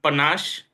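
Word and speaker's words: panache: the day for today is panash it is pronounced as P panash the meaning of panash is flambo confidence or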